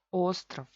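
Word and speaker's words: остров: Ostrov, ostrov, oficialmente es ostrov. Y con reducción ostrov, ostrov. V se convierte en F.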